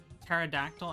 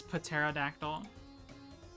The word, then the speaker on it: pterodactyl: know what I mean how are we supposed to know the p is silent you just don't you